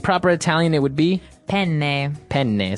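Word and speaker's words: penne: pronounce uh we said pen in uh in English in American English but in proper Italian it would be pen pen so you you you double pronounce the consonant yes what about fetuin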